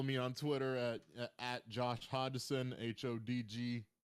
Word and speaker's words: Hodgson: And you could also follow me on Twitter at Josh Hodgson, HODGESON. Yes, that's Hodgson, not whatever other mispronunciations that SSN be having.